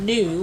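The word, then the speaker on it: gnu: wilder beast they also go by the Africans name of new which is spelled GN you after the sound that they make now when we come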